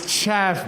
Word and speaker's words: chav: That only works because you insist on mispronouncing that word. It's chav, mate.